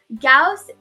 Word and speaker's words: Gauss: in your school waterloo gauze math contest so what is gauze yeah gauss it's pronounced cows okay i'm sorry it